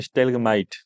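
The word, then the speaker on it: stalagmite: और इसके अलावा एक टर्मिनोलॉजी की स्टेलग्माइट, तो दो वर्ड होते हैं, एक होता है स्टेलेक्टाइट, एक होता है स्टेलेक्टाइट और एक होता है स्टेगमाइट।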